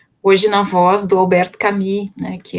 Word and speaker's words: Camus: Bom, então o Albert Camus, né, a gente se escreve Camus, mas é Camus, né, se pronuncia Camus, ele é um argelino, né, nasceu na Argélia, e viveu de 1913 a 1960, né?